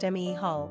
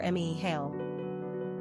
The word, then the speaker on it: Micheal: In the Gaelic tongue, the Ae is flipped to Ea and is pronounced Mehal or Mehal.